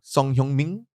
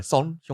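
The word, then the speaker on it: Son Heung-min: But Song Hyung-min. That's how they say it, Song Hyung-min. Son. Yeah, Son Hyung-min. Not Song.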